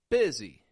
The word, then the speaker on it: busy: for this first off busy busy I'm not saying busy but I'm changing the U to an i and the S to a z z z busy let's get busy come